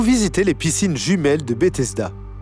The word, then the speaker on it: Bethesda: les piscines jumelles de Bethesda. Prononcé Beth Esda en hébreu, le nom signifie maison de grâce.